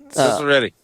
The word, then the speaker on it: Ciceretti: Ciceretti. So say it like it's S's instead of C's.